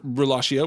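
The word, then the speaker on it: rilascio: or to set free, or the Italian word relatio, which is pronounced the same way, R-I-L-A-S-C-I-O in the Italian form, meaning I release.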